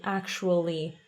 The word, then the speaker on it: actually: Invece con la L inglese la lingua è molto più avanti, quindi actually, quindi la L tocca, dipende, ci sono due tipi di L. Il primo tipo, la L tocca i denti, la lingua tocca i denti, e nel secondo tipo è leggermente indietro, quindi cos'è che ha detto? Actually. E la seconda non tocca esattamente, va molto vicino però.